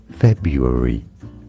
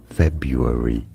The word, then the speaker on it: February: February. February. No R sound after the B.